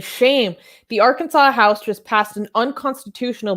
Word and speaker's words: Arkansas: that i highlight okay so if you add r instead of kansas it should be our kansas but no for some reason this is kansas and how do you pronounce this as a whole arkansas why why it should